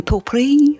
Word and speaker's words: Pourri: are a podcast but the original word would have been poi something like that PO POI POI yes that would be